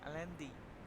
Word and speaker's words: Allende: The government of USA was unhappy like with again there is the name Allende's, but the pronunciation is LND, Allende policies.